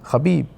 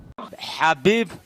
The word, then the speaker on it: Khabib: So how do I say it? It's Khabib. Watch this. Khabib Nurmagomedov.